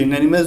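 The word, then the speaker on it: unanimous: यूनानिमस जो है ना, इसका प्रोनाउंसिएशन कॉन्सोनेंट साउंड से होता है, तो इसके पहले ए ही लगता है।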